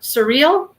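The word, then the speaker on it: Suriel: guy i don't know surreal is that what it was karen yeah but it's spelled thank you r i e l like cereal yeah and that person or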